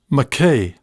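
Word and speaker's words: Mackay: them told me that people in makai said mckay rhyming with hay the other lads concurred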